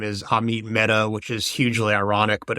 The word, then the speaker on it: Mehta: I think the judge's name is Amit Mehta, which is hugely ironic, but it's not spelled like Meta Platforms. It's spelled Meta, M-E-H-T-A.